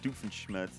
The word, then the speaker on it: Doofenshmirtz: might they call that in every language it's pronounced doofenshmirtz in english all right and the german pronunciation